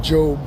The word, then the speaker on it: Job: which The Book of Job which is spelled like job The Book of Job explains that of